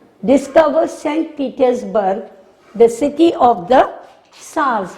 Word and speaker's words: Tsars: Petersburg, the city of the Tsars. We will not pronounce T, it is silent, Tsars.